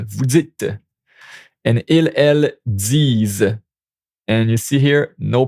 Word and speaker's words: disent: And ils, elles disent. And you see here, no pronouns. Don't pronounce the NT. This is also a problem, so get used to not pronouncing the NT.